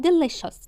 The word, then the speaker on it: delicious: The food الطعام is يكون delicious. تعال نشوف delicious كده. ليه أنا نطقتها كده؟ أخلي بالي السي معلومة، يعني السي والاي والاو طالما جنبيها حرفين فاول أنطقها شين. delicious delicious delicious delicious delicious here هنا here هنا.